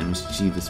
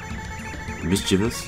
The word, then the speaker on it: mischievous: actually good timing my mischievous princess mischievous excuse me mischievous is a grave mispronunciation of that word we're just discussing the